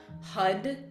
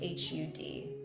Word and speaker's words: Har: We'll be vibrating with the mantra HUD. It's spelled H A R but pronounced like H U D.